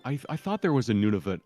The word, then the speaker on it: Nunavut: But I believe it's Nunavut. I think it's I- pronounced Nunavut. It's a native word, so it's pronounced a Yeah.